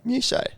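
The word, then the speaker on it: Muchea: Mew-shay. Yeah. So I trust that over Google because that is actually a WA site.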